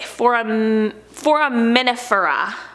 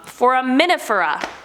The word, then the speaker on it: Foraminifera: Okay, Foraminifera.